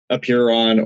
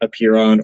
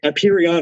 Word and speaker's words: Apeiron: latch on to is Apeiron or Apeiron. They switch out the I's and R's out of nowhere. Like, spelling is right there, guys. Think of it like peer, or like if there's